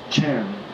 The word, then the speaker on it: Chan: china it was pronounced chan and when people use the word chan they are referring to chinese zen zen is a japanese word a mispronunciation of the chinese word chan and that basically means